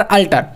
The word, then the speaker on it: alter: का फर्क है, लेकिन दोनों का उच्चारण सेम आ रहा है, अल्टर अल्टर।